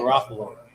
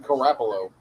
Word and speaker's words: Garoppolo: Garoppolo. Yeah, we call He him got Joey G. We call him 350,000 Garoppolo.